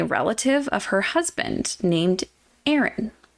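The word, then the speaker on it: Aerin: of her husband named Aaron Aaron it's spelled different but yeah like it threw me off like wait Aaron like a normal name yeah it's a r i n so not quite a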